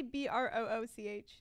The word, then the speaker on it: brooch: you say it Connecticut how do you say b-r-o-o-c-h I know it's brooch okay it won't get